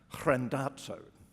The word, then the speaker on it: Randazzo: pronounce his name, because I thought his name looked like Mark Randazzo, or Randazzo. I asked Mark how you pronounce his name, and he said, Mark Randazzo.